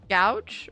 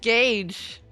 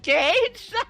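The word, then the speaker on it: gauge: Gouch. Wait, is that how not how you pronounce it? What? It's pronounced gage. It's pronounced gage.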